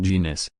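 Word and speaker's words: Jness: its women's empowerment offshoot engine s pronounced genius can be difficult to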